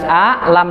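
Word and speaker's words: أَلَمْ: Kenapa dibaca alam? Karena tulisannya alam, Ustaz. Ini hamzah dikasih baris a, lam dikasih baris fathah, mim dikasih baris sukun, maka bacanya alam. Di sono alif dikasih bendera, lam dikasih bendera, mim dikasih bendera, jadinya alif, lam, mim.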